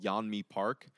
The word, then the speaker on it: Yeonmi Park: a wonderful woman called Yeonmi Park, Mm. Yeonmi, and then Park just spelled like normal Park.